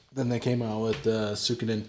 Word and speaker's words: Suikoden: Depending on where you're from, me and my brother always pronounced it as Suikoden, but it's Suikoden or some shit, right?